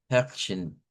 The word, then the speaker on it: Herrchen: Vea que esto sonaría como her, da, her, y luego shen. Va, Herrchen. Va, Herrchen. Aquí sonaría como una E abierta, R gutural, esas dos, y luego Shen, que sería el mismo fenómeno de la de Guten, que podemos eliminar el sonido de la E y solo sonar la SH.